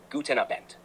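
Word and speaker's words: guten Abend: not quite Kleiner shriber in german good evening is guten abin pronunciation guten abent good night is G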